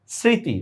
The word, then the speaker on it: স্মৃতি: নাই আমরা চন্দ্রবিন্দু দিছি স্মৃতি মফলার উচ্চারণ নাই আমরা চন্দ্রবিন্দু দিছি বুঝা গেছে বিষয়টা যেখানেই